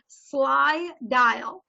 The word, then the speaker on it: Slydial: All right, so I have an app here on my phone, and it is called Slydial, S-L-Y-D-I-A-L. All right, so I know it sounds like the word sly sounds like, what the heck is this?